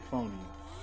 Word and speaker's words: euphonium: Yeah, that's how you say it, euphonium.